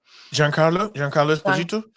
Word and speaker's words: Giancarlo Esposito: How do you properly pronounce that, Graham? Giancarlo Esposito?